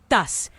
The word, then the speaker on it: estás: Notice tas. This is estás with the first syllable dropped.